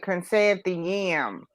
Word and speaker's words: Chrysanthemum: it's a chrysanthemum and her mother said consent the yam oh really chrysanthemum is